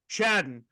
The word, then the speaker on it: Chadron: That pronunciation scares me. It's been scaring me all day. Yeah. Is it Chadron? Chadden.